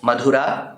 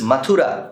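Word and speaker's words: Mathura: In the Dashamascanda we have now reached the point where Krishna enters the capital city of Madhura which is Matura in the current form of pronunciation and fights his own maternal uncle Matula.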